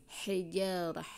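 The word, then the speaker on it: حجارة: Kemudian fahiyakal hijarah, kalau ini ha kecil, hijarah, ha halus, hijarah.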